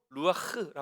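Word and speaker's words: רוח: 계셨다 이런 의미예요 이런 말씀 하나님의 영은 히브리어로 루아 흐라 합니다 루아흐 아니라 루아흐 바람소리 루아흐 예 여러분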